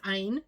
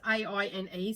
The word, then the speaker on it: Aine: I think it's Aine is how you pronounce the name. It's A-I-N-E, so Aine.